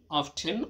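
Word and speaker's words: often: হাউ অফটেন অথবা অফেন দুইটাই তুমি উচ্চারণ করতে পারো বেশি উচ্চারণ করা অফেন এটাতে ভুল নেই অফেন বললেও তুমি পারবে তো এটা একটা হচ্ছে ব্রিটিশ সাউন্ড আরেকটা হচ্ছে আমেরিকান সাউন্ড এটাই পার্থক্য কখন কখন হাউ অফেন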